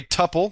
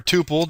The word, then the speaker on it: tuple: This is going to return a tuple or a tuple, depending on how you feel like pronouncing it. I go either way. I prefer tuple because I believe that's how it's supposed to be pronounced, but everybody kind of says things their own way.